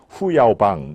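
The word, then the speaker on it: 胡耀邦: 우리는 호요방이라고 그러죠. 중국 발음으로는 후야오방 이렇게 됩니다.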